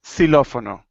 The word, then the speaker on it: xilófono: But at the beginning, almost sounds like an S.